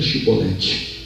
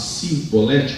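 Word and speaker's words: Chibolete: perguntar para eles: diga Shibolete. Se eles não conseguissem pronunciar o CH e sim falasse Sibolete com S, então porque não é dos nossos.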